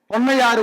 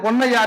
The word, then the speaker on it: பொன்னையார்: இருந்திருக்கிறது அது ஆவணப்படுத்தப்படவில்லை அவ்வளவுதான் ஆனால் என் பாட்டனும் பாட்டியும் பொன்னையார் பொன்னையார் என்று அவர்கள் உச்சரித்திருக்கிறார்கள் அது தவறு என்று நான் நினைத்திருந்தேன் ஆனால் அதுதான் சரி அது எப்படி சரி என்று